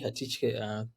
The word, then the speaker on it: Hatitye: My name is Hatitye. Thank you. I think you pronounced it very well.